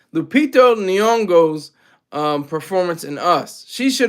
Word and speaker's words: Lupita Nyong'o: Same way I loved Lupito Nyong'o. I said her name wrong. Said her name backwards. Lupita Nyong'o's performance in Us.